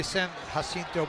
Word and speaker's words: San Jacinto: know how to print we know how to pronounce our J's in espanol but yeah he's a